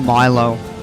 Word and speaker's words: Milo: It's pronounced Milo.